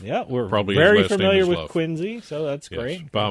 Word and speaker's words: Quincy: Even though the trust is from Quinsey, not Quinsey, Quinzy. Quinzy with a Z.